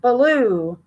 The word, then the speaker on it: Baloo: Baloo. I know that blue will make it is pronounced like that, but yeah, it's Baloo.